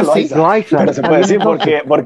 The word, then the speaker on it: Loaiza: Se pronuncia Loaiza. Aquí se pronuncia Loaiza. Pero se puede decir porque es L-O-A, ¿verdad? Z y lo demás. Pero. Ah, también, Loaiza.